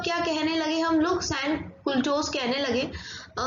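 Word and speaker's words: sans-culottes: सैन कुल्टोस कहने लगे। ये फ्रेंच लैंग्वेज के शब्द हैं तो मे बी प्रोनाउंसिएशन गलत हो सकती है, बेटा आप लोग क्या करना कि इनकी स्पेलिंग सही लिखना।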